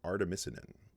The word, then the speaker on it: artemisinin: synthesis of this compound this drug that's called artemisinin i had to look that one up as far as the pronunciation goes but that is correct now one